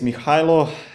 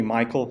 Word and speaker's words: Mihailo: as Naish mentioned and people also called me Michael because that's like the American version of my name so if somebody like needs to like American pronunciation that's that's how it can be and uh I've been